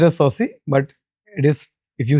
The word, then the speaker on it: Sabhsai: It is pronounced as Saucy, but it is, if you see the spelling, it is Studio Sapsai.